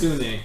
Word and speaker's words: Sune: Sune. How do you spell it?